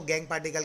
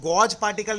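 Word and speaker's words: gangue: अब बेसिकली ये गैंग पार्टिकल होता क्या है, इसको गॉज पार्टिकल नहीं बोलते, इसको गैंग पार्टिकल ही बोलते हैं। यही उसका एक्चुअल और करेक्ट प्रोनाउंसिएशन है, ठीक है, दैट इज गैंग पार्टिकल।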